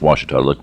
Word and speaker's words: Ouachita: Ouachita. Ouachita. It's how it's pronounced Ouachita.